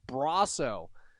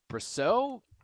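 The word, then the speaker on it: Brosseau: He says it's Brasso. How have we been pronouncing it? Brasso, I guess.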